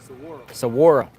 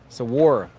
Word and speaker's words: Saguaro: How do you pronounce the name of the park? Saguaro. Saguaro.